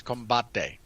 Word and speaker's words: combate: why why do you you hurt me when you pronounce it like that it's combate combate um because there were so